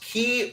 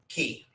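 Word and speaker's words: Cay: know folks down there key but I don't know if you know anybody gets too upset if you say it wrong but I've always understood it to actually be pronounced key k-e-y I've said it both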